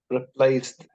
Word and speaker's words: replaced: it ah okay and please delete the e sound it will be what replaced Bravo replaced this is